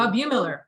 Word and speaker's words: Bumiller: Am I pronouncing the name correctly? Bumiller, yeah.